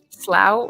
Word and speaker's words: Slough: to keep ahead oh okay Slough rhymes with plow it is a marshy place it doesn't rhyme with plow here so that's good to